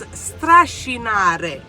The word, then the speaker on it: strascinare: It's strascinare. It sounds the same, but the S's are pronounced better in Italian than in Sicilian.